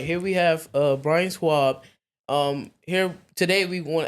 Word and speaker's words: Schwalb: today the DC attorney general can you uh pronounce your name I don't want to say it wrong Brian Schwab Brian Schwab right you got it Brian Schwab all right here we have uh Brian swab um here today we want to ask him